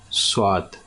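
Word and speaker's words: صاد: In Urdu language it is pronounced as swad.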